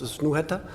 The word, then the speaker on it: Snøhetta: All right, Snøhetta. A little bit hard to pronounce with this letter, so it becomes Snohetta when we talk about when people kind of adopt it in.